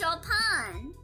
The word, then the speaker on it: Chopin: It's pronounced Chopin.